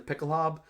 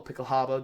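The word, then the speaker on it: Pickelhaube: are still wearing the pickle hob uh well pickle Haba depending on where you want to hear your pronunciation from that's the spike on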